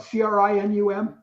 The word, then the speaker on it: Crinum: at, if I'm spelled Crinum, is that right? Crinum, yeah. Yeah, crinum is the way I learned to pronounce it.